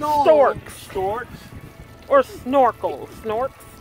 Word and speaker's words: Snorks: Snorks. Spell it.